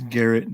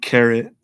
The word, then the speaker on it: Garrett: It's Garrett, not Carrot.